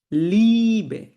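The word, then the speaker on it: Liebe: আমরা বলি এটাকে এ যখন এই দুটা একসাথে থাকবে তখন এটাকে আমি ইংলিশের ই এর মত উচ্চারণ করব। ই যেমন দেখেন লিবে লিবে বিনে।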